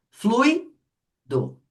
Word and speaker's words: fluido: Fluido tem duas sílabas. Fluido. No flui qual é mais forte? O U ou i? Flui.